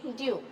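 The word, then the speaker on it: de Duve: अलग होता है, तो हम इसी को कह देते हैं डी दवे, डी दवे कह देते हैं। इंग्लिश मीडियम वाले डी ड्यू पढ़ते हैं।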